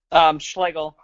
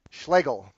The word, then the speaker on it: Schlegel: How do you pronounce your last name? Let me hear it again. Schlegel. Schlegel.